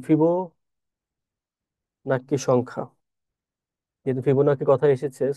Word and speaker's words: ফিবোনাচ্চি: তার নামই তার ডাকনাম ছিল ফিবোনাকি, বা অনেকে ফিবোনাচ্চি উচ্চারণ করে।